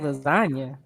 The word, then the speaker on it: lasagna: moving in silence like lasagna yeah there's a g in lasagna but it's silent it's a silent g oh yeah that's my